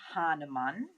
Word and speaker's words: Hahnemann: meet Samuel Hahnemann that is the correct spelling and pronunciation I heard very much